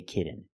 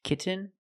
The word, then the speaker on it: kitten: the N example kitten you can say kitten but most people say kitten you do the stop te kitten you don't really and then you fall to an n k when you make the stop T the tongue is up almost in the end position so you don't have to change much kit kitten but don't say kitten I cannot pronounce these T's as a fast D I cannot say kitten it's kitten or more commonly kitten